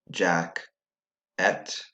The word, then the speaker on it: jacket: Which syllable was quieter? That's right, the second syllable was quieter, meaning that the E did not say eh, it said I instead.